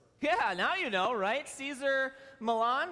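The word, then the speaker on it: Cesar Millan: now you know rights teaser Milan right that's how you say his name he is you would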